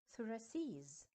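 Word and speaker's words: thoraces: a c e s and I have to say or pronounce it suracis so Rex in singular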